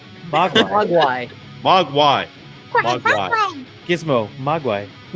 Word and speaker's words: Mogwai: how's it supposed to be pronounced? Mogwai.